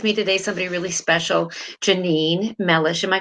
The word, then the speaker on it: Jeanine: i have with me today somebody really special janine melish am i pronouncing your name correct janine yes yes she is here today the topic